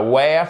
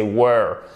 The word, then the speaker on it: were: B2 intermédiaire plus en anglais ce n'est pas where c'est were if I were you I would on ne prononce pas le l ici c'est un ou